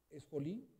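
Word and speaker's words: σχολή: Digamos que, pongamos acá, esjolí en latinizado sería como, se pronunciaría como esjolí.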